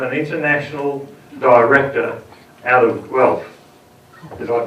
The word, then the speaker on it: Guelph: Why the hell would you have an international director out of Guelph? Did I pronounce it right?